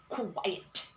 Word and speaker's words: quiet: are trying to say quite quiet okay so this is quite and then she tried to imitate me by saying so this is quite and this is quiet and this quiet here means very very and this is quiet meaning silent silent then we made mention